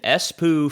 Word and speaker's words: Espoo: Yeah, it's right exactly how you would think.